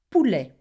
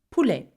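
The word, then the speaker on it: poule: is a pulle. Can you say that? A pulle. And that is a chicken. Now you notice that o u together make the sound oo.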